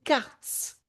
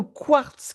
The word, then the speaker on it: karst: C'est pas le quartz, c'est quartz. Quartz, ça s'écrit K-A-R-S-T. C'est pas le quartz qui est Q-U. C'est pas la même chose.